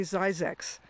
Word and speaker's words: Zzyzx: It's called Soda Springs, and the newer name for it is actually Zzyzx. Zzyzx. Wait a minute, you pronounced the road sign.